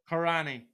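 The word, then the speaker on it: Corranny: but darren's question is do you pronounce this pub corny c-o-r-r-a-n-n-y karani karani that's my local pub at home okay is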